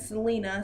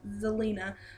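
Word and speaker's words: Zelina: the victory so first one it's Andre and Selena sorry Zelena sorry for saying his name wrong I am like suck at his name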